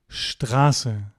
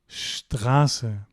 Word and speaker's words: Straße: So, take away here, ST at the beginning of a word will be sht, like here, Stephanie and Straße.